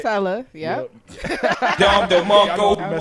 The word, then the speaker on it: Tella: But I'm sitting here with Tella, man. Did I say it right? Yes, it right? Tella, yep.